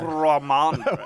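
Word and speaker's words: Rhamondre: That's Ramondre.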